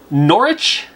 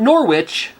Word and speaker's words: Norwich: there April oll 23 in Norwich not Norwich even though there's clearly a w there you know it's funny like it's it says Norwich but you know you say it you call it Norwich I live in Washington